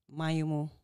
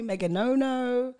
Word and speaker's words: Maignomo: use it because people don't know how to pronounce it try me mayumo mm-hmm we've got why are you surprised that i got it right i mean like not everyone gets a right they call me meganono meganona i know i'm like no it's my